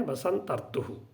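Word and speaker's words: वसंतर्तु: जैसे कि हम कहते हैं बसंत ऋतु, हम कहते हैं, लेकिन इसका उच्चारण कैसे होता है, बसंतर्तु, बसंत प्लस ऋतु, बसंतर्तु, संयोग होने से, संधि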